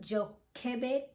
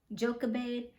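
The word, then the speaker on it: Jochebed: Delilah Samson's first wife I believe you pronounce her name Joe Cabot joka bade and bithia yeah those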